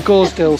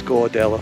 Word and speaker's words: Gordale: you and on anybody else that's listening so gorsdale score you probably won't be one of these films if i didn't pronounce it incorrectly yeah he's gordale anyway it's literally it's literally just there around